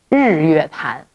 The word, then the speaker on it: Jingyuetan: It's called Jingyuetan. This is Jingyuetan. That is Jingyuetan. Okay. Yeah. So they're like sisters. The pronunciations are very similar to each other.